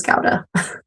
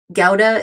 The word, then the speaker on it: Gouda: In America, everyone pronounces it Gouda, but I've been told by my Dutch friends anyway that the correct pronunciation is Gouda.